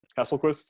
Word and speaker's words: Hasselquist: So everyone, this is Kevin Hasselquist. If you also is that how you say it? Hasselquist? Is that right? Hasselquist? Yeah, yeah.